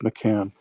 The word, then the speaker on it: McCann: Well, actually, it's pronounced McCann. McCann.